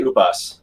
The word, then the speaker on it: Upas: it's pronounced usps how do you pronounce your name is it actually upos or have we been wrong this whole time oh i say ubus okay oop yeah i